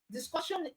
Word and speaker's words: discussion: Discussion ends with sion. Sion. Okay, or ssion. All right. So because we have words, this word ending with sion, the syllable before the sion carries the stress. So you say discussion. So it means core is the stress syllable. Okay, our cu, all right, is the stressed syllable.